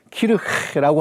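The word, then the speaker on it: Kirche: 영어의 처치에 해당하는 단어가 키르헤라고 하는, 하니까 좀 이상하긴 한데 여러분 키르헤라고 읽습니다.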